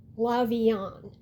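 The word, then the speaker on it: Lavillant: As for the other one, it's Rose's surname cuz there's a T at the end, but you don't really pronounce the T. It's more like Lavian.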